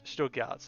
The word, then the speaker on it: Stuttgart: To me, I would probably, I'll probably hedge either towards Nuremberg or more towards, Stuttgart, is that how you pronounce it? Stuttgart, yeah.